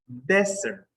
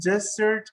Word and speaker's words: desert: But when you refer to a dry place, is desert. Desert. So the desert. The Mojave Desert is in Nevada, Las Vegas, Nevada. So that dry place is pronounced desert. And when you abandon, for example, the military guys, they abandon, they desert. They desert. It's not desert, it's desert.